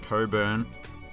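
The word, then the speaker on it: Cockburn: Now, I predict that somebody in the comments is going to tell me that it's pronounced differently, like how this surname is somehow pronounced Coburn.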